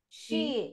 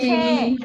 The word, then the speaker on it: she: She, no she. Che, right? Because some of you were saying che is and che is. No, she, okay? She. Like when you say chi, then it, yeah, like that, she, okay?